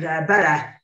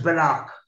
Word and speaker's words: Bella: and they called it Bella. Now, it is Bella written, but it's pronounced as Belloc. And the fella said, I'm